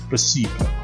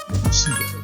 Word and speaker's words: placebo: Placebo. The stress is on the middle. Placebo.